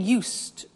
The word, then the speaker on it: used: I said used with a t sound. Used, not used or used. Used. That's very important to distinguish it from the other verb use.